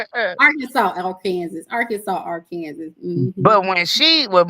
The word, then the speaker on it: Arkansas: You spell it our Kansas, but it's Arkansas.